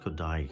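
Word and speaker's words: Kodály: this collection Zoltan kodai his last name is pronounced kodai Hungarian composer and these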